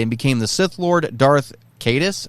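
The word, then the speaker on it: Darth Caedus: became the Sith Lord Darth cadis I think is how you say his name and an attempt to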